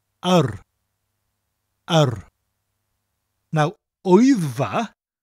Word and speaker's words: yr: Now, yr, spelt yr, is the word for the, and is pronounced like a, that people say when they're unsure about something. A, but with a rolling r sound after it.